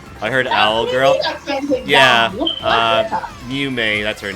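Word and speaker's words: Mumei: Mew-May what? No, Mew-May. M-U-M-E-I, I think? I think that's how you spell it.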